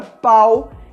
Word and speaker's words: pau: É muito importante você pronunciar corretamente esse som, porque você pode trocar a palavra pão pela palavra pau e as pessoas não vão entender o que você está querendo dizer.